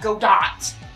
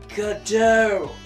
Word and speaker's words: Godot: And that is how that name is pronounced as well. It's not Godot. Because good lord, do not any of you listening to this have an ounce of culture within you? Know of the French Godot. At least I think it's French. I don't know. But it's pronounced Godot. So there you go.